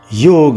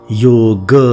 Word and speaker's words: योग: व्यास जी कहते हैं योग वह समाधि है अर्थात योग शब्द का अर्थ है समाधि कि इस बात पर ध्यान देना चाहिए कि योग शब्द का सही उच्चारण योग है योगा नहीं समाधि के बारे में